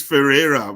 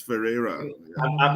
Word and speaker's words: Ferrera: prestige uh Ferrari so Ferrari can you help me am I pronouncing that name correctly oh it's it's Ferrera but uh people call me Ferrari just to remember it's Ferrera I'm used to the